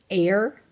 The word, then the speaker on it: heir: isn't that spelled funny H e IR and that's pronounced air it's kind of a